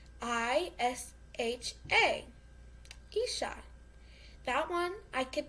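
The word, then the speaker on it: 医者: Isha. Isha. Spelled I-S-H-A.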